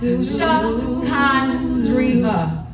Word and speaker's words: Sha'Condria: My name is pronounced Sha'Condria. No silent letters, no accents.